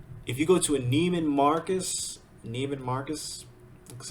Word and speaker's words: Neiman Marcus: But if you go to a Neiman Marcus, that's how you say it.